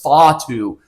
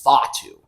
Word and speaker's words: Fatu: You're like, oh, it's Fatu. I can pronounce it however the damn well I want. Apparently, it's Fatu. Oh. That's how you pronounce it, but you know what I'm talking about, right?